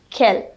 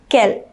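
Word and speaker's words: quelle: different for example when would we use q-u-e-l kell we would use it when there is a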